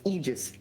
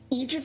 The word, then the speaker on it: Aegis: It's pronounced Aegis in every language.